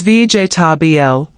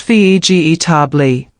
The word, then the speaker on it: vegetable: For example, vegetable is VJ tbl, not ve g ei.